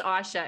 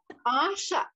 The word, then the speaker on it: Ayesha: i should just say it's asha everyone gets my name wrong asha i i pronunciation oh